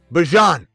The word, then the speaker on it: Bijan: Travis Hunter, Garrett Wilson, Brock Bowers, Bijan Robinson. There, I slipped up there. Bijan Robinson. Bijan. That's how you say his name.